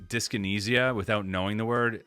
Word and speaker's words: dyskinesia: up how to say dyskinesia without knowing the word? Instinctively, I'd almost assume that the anesia in dyskinesia would be pronounced like the word amnesia, where the SI sound is almost like a J.